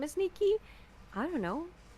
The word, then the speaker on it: Nikke: He's like, "Do you guys play Nikke? Does anybody Does anybody here play Nikki?" I don't personally, but I No, you pronounce it nik. I thought you pronounced It's Nik, not Nike.